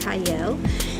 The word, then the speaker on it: Qiayel: y'all welcome to Prime TV I'm your host cyle it is pronounced with or it's sped with a q but it is pronounced cyle and today I have a special guest with